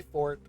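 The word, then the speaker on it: forte: I appreciate your kind invitation, but like I said, storytelling isn't really my fort. And that is the correct way to say that. Orte is loud. Fort is strength.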